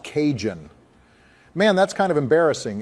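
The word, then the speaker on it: Cajun: Kahoon fries? You know, the seasoned fries from Popeye's. It's called kahoon. Joe, how long have you been saying it like that? It's pronounced kinjun.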